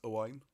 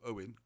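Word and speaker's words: Owain: was appointed to replace a wine or Goin so you see when you when you start using the right Welsh pronunciations a wine instead of Owen a wine and good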